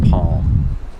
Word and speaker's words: palm: important let's talk about the pronunciation of palm Palm the L is silent that's right now if you ask an American they'll say they pronounce Yale because they move their tongue up to make the l sound but they never touch the roof of their mouth so it's not a real L and you don't really